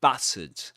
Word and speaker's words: battered: The first syllable, the vowel sound in the first syllable is the same as in cats. Bat. Bat. Bat. And the ending here is awah. That is to say, we say battered.